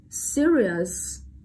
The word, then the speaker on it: serious: Vậy chúng ta đọc này, serious, serious, serious. Vậy chúng ta chọn đáp án trọng âm rơi vào âm tiết đầu tiên đúng không?